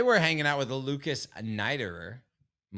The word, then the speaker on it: Neiderer: right oh today we're hanging out with Lucas nighterer I'm like 98.9 positive that I said that